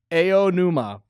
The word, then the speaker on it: Aonuma: oh, Even when next to other vowels, they don't change, unlike English. So, Interesting. anuma is pronounced aonuma.